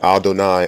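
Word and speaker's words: אדני: Adon and Adonai are Canaanite pronunciation.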